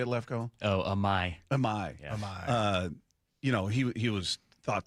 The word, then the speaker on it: Imai: Oh, Amai.